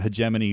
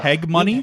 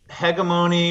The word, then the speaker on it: Hegemony: first try no still what's the worst pronunciation you ever got um man uh heg money yeah I was going to say like heg money hegemony we get hamine we get um all sorts of things I don't know you